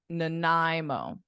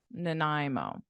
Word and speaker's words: Nanaimo: Nai Nai and then the beginning is like unstressed so it's like a no uh Nanaimo nanimo Nanaimo do you recognize the